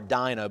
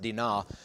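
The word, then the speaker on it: Dinah: CH 34 when uh I call her Dino but it's pronounced daa when Dena is raped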